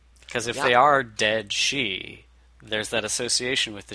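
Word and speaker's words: Sidhe: myths names that and it was spelled like 50 different ways but it was always pronounced she so yeah a false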